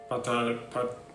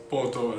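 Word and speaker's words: Påtår: We're going to try Ikea's coffee, which is called patar. I'm butchering the pronunciation again, but I'll just say patar. In Swedish, it's probably pronounced in some other way completely. Okay, so it's not patar, it's poto.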